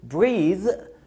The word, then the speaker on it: breathe: أفكرها لك بقى، دايما أي كلمة فيها THE بتتنطق ذا وبتبقى ممدودة breathe، لكن التانية عشان ما فيهاش E مش ما فيهاش ذا في الآخر فبنقول breath.